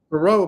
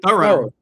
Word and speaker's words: Thoreau: That name is pronounced Thorough. I was Thoreau my whole life, but it's now Thorough. Thorough. Yeah. Thorough is how you pronounce it.